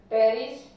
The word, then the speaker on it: Pteris: टेरिस, यहाँ पे भी पी साइलेंट है. एंड मार्सेलिया. Pteridium, Pteris and Marselia.